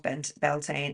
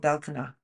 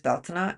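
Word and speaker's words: Bealtaine: the UK, Beltane, but it's not actually called Beltane, it's called Beltana. So that's the correct pronunciation, is Beltana.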